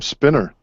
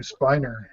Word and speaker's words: Spiner: Dex I always called I always called him spinner Brent spinner he pronounces last name Spiner Dax the fry no